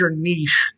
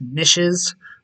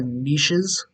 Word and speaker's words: niche: looks weird in English nishes is a incorrect pronunciation it's niche or niches right and all of